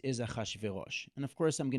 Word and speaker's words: Achashverosh: So Chishayarsh is Chishayarsha, and in Hebrew, because it's really hard to pronounce this very heavily consonantal sound, we add an ah. So it's, instead of being Chshayarsha, it's Achashverosh.